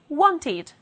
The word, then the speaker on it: wanted: let's see some examples want ends in t therefore the past will be wanted need ends in d